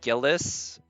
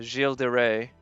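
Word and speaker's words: Gilles de Rais: sometimes by how peop some people pronounce his name because they'll call him like gillis or gill from what i understand his name is pronounced jill jill de rey jill de rey something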